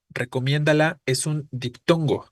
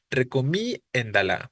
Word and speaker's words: recomiéndalo: no efectivamente Eh entonces si yo lo pronuncio como está escrito diría recomi endala recomi endala no pero es recomiéndalo Es sobre la e es diptongo por lo tanto es la e la que se debe acentuar Si lleva acento pero